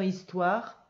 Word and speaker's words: histoire: c'est le l apostrophe il y à 1h muet dans histoire et un e muet à la fin c'est le sud de